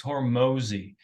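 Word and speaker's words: Hormozi: like the scene fast Alex hormozzi h-o-r-m-z-i believes how you pronounce it because he is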